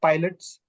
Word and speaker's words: Pilates: as Pilates it's not Pilots it's not Pilates it's not Pilates Pilots it's not Pilates it's Pilates it's a it's a German name in fact even the